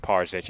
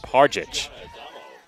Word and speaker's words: Parich: over, you see that it is not pronounced Parzich. It is in fact pronounced Parich.